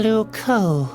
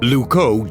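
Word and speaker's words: Loucaux: Lucco doesn't really rhyme with Bordeaux. It's spelled completely differently. Really? Luco is spelled L O U C A U X.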